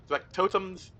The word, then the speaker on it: factotum: As he says this, the factotum's... Oh, I've been pronouncing that wrong the whole time. It's factotum.